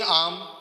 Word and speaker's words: alms: بھی کہہ سکتے ہیں، اور چیریٹی کو آپ عام بھی کہتے ہیں، اسپیلنگ اس کی ہے ALMS، آن گوئنگ عام یا آن گوئنگ چیریٹی۔ اور بینیفیشل نالج یعنی